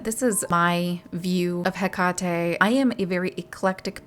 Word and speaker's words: Hekate: some of you guys are like, Hekate, it's pronounced Hekate. It's pronounced Hekate. And to all of you I would say, yes, you are right. There are many different ways to pronounce her name. Hekate is the closest that we can get to